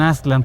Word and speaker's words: Aztlán: Lo mismo pasa con Aslan, que será la pronunciación más cercana con Aslan.